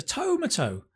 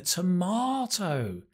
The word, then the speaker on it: tomato: The last one, tomato. What is a tomato? Oh, you mean a tomato. Tomato.